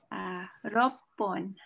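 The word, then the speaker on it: 六本: Kushi ga roppon.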